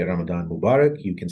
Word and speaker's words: Ramadan: to answer your first question the way it's pronounced it's called Ramadan and the last part which we usually use